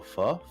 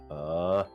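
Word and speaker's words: phở: So, I think in like southern and more central, it's pronounced like I think they use the typical pho, but pho. And I think, but since I'm from the north, I pronounce it as pho.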